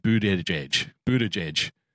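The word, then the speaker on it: Buttigieg: night but a gig his campaign t-shirts bear the phonetic spelling boot edge edge I am not pronouncing his name Buddha de jedge Buddha judge not happening it's about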